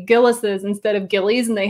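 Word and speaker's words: Gilles: to point out that there's a controversy about how to pronounce gillison i only learned myself recently when i when i first visited i called it gillies and that is wrong it's gillis's with an apostrophe at the end right and they train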